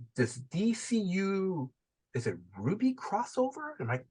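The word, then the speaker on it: RWBY: Is it Ruby crossover? Am I pronouncing the?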